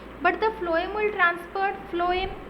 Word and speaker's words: phloem: So the xylem will transfer the water and minerals which is in the soil, but the phloem will transfer phloem, F, pronunciation is F, right?